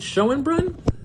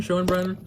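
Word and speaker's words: Schoenbrun: and topic is Jane is it Shen Brun is that how you say it I believe sh and Brun Shen Brun Jane Shen Bruns I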